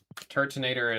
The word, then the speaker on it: Turtonator: I always read Turtonator as tur. So, it's Turtoise, but nater. I always took out a whole syllable.